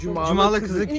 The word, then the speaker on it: Cumalıkızık: Cumalıkızık. Cumalıkızık köyü.